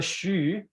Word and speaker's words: Hsu: Hsu. So before everyone forget, this is, so Hsu in Taiwan it's H-S-U.